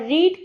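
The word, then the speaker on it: read: ठीक है, और रीड की जो थर्ड फॉर्म होती है वो भले से हम रीड ही लिखते हैं, जो उसका प्रोनाउंसिएशन होता है वो रीड का रेड होता है।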